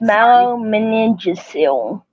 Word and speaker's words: myelomeningocele: myelomeningocele. Okay, Myelomeningocele. Yes. Myelomeningocele. That is a Yeah. mouthful, girl. Um, so it says here when people talk about spina bifida, most often they were referring to myelomeningocele.